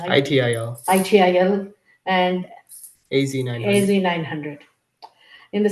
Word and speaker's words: ITIL: His certifications include PMP, CSM, CSPO, Lean Six Sigma, Black Belt, ITL, how do you pronounce ITIL, ITIL, and AZ900.